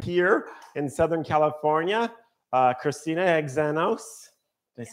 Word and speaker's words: Xenos: Today, our guest is our longtime foodie friend here in Southern California, Christina Xenos. Did I say it right? Yeah, Xenos. Xenos, finally.